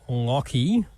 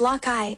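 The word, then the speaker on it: Lachie: My name is pronounced Locky. Really? People usually pronounce your name as Lai, but Locky suits you nicely, actually. How about we stick with Locky?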